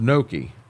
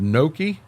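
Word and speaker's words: gnocchi: not goo like not ncci is pronounced Noki it's pronounced Noki I don't see no damn K in that I think once you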